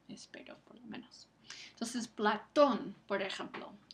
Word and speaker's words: Platón: Entonces, Platón, por ejemplo, esa tilde sobre la O marca el acento prosódico, porque Platón, es la sílaba que recibe el énfasis.